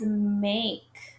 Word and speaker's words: make: And then we hear Now, this word follows a special rule because it has a silent E at the end.